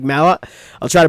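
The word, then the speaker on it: Malott: who's taking on Mike malot malot not Mallet apparently Mike Mallot I'll try to pronounce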